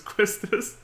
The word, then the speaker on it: Quistis: Questis, if that's how you say it. I've heard other people pronounce it Quistis. That doesn't sound right to me, but I'm just gonna go with the way I've known how to pronounce it, which is Quistis.